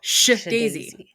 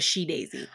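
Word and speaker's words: SHeDAISY: an apostrophe that and which is why I pronounce it as sh daisy as opposed to she Daisy I feel that was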